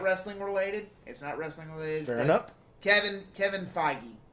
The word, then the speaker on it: Feige: Kevin Feige. That's how you pronounce it.